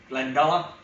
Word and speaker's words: Glendalough: It's not, it's Irish pronunciation, Glendalough.